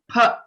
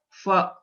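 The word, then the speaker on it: फ: So a few people pronounce this letter, the second letter in Pavarga, as fa. Okay, but the right pronunciation is pha because both our lips should come together.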